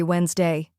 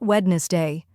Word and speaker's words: Wednesday: Say, I have a class every Wednesday. Focus on Wednesday, not wedness day.